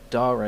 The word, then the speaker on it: Dare: is not the uh the ideal streaming time I guess but need must when ludum dar it's pronounced Dar actually not dare because it's Latin ludum Dar sounds very